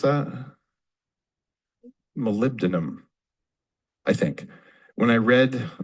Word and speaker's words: molybdenum: And some of the minerals that you need, can anyone pronounce that? Molybdenum, I think.